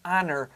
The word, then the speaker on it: honor: 你没有说 a honor, 你要说 an honor to be here. 因为没有 H 的发音，听起来像母音一样。